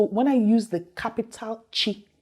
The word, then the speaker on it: chi: one after b is it's pronounced like that chi and the word i